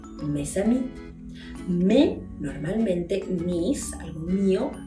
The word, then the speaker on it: mes amis: Me, normalmente, mis, algo mío, me suena sin la S. No suena esa S al final. A mí comienza con vocal. Por ende, puedo generar el fenómeno de la liaison también en este ejemplo.